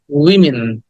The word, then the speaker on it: women: পেও না this is উইমেন আমরা এটাকে ওম্যান বলি উইমেন বলি উইমেন উইমেন উইমেন উইন উইমেন ওয়েমেন না উইমেন না ওমেনও না উইমেন উইমেন উইটাকে শর্ট ই বলতে হবে শর্ট উইমেন এমন ভাবে বলতে